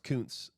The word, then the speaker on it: Kuntz: The Kuntz card you pulled last week is pronounced Kuntz.